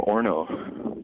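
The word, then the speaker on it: Orono: are you calling from i call him from orno or no is that near lindsay uh not too far from it it rhymes with porno yeah porno that's over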